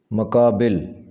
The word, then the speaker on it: مقابل: تلفظ ہے مکالمہ، مکالمہ۔ مقابل اس کا صحیح تلفظ ہوگا مقابل، مقابل۔ مطلع صحیح لفظ ہے